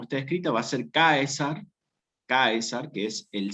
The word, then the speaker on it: Caesar: Al escribirse con C y estar unido a una A y una E, que es un diptongo en latín eclesiástico, se transforma y queda como César, ¿sí?